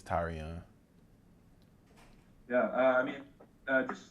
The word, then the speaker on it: Tyrion: to be called tyrion um it's actually tyrion that's how you pronounce it that's how you it's that's how